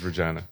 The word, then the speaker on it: Regina: It's Regina. Regina. Right, Moose Jaw's not correct. Sorry. Is that the correct pronunciation of?